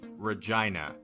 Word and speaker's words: Regina: begin to hope album it's pronounced regina sorry she's named after saskatchewan sorry regina spektors begin